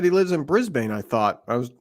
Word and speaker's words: Brisbane: So I thought it was Brisk by Life because he's saying he lives in Brisbane. Nope, you're wrong. It's Brisbane.